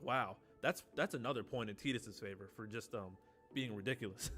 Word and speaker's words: Tidus: Tidus' quick hit, Tidus' LD, ulti, Tidus. Terra. Don't mind how he's pronouncing it. It's Tidus.